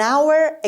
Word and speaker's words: hour: مثلا میگیم an hour ago. I called you an hour ago. یه ساعت پیش بهت زنگ زدم. an hour ago. an hour یعنی یک ساعت. دقت کنید H اینجا تلفظ نمیشه.